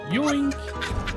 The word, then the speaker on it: Yoink: of a name is joint oh no no you're not saying it right it's more like yoink and basically they're going